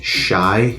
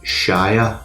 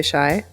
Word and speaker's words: Shai: Can I just confirm that it's Shai Marie and not Shia Marie? Well, it's S-H-A-I. Yeah, I would say Shai or Shay.